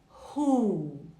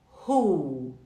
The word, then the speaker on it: who: hoje nós vamos falar do ru ru sabe quando você fala rua você não fala Rua é a mesma coisa